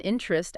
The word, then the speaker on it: interest: But listen closely to how native speakers say it, especially, you know, in the US or UK. We almost never say all three. We kind of squish it, compress it. Usually comes out with just two syllables. Interest. Yeah. Interest. like I have many interests. If you can drop that middle vowel sound, that e sound instantly sounds more natural, right?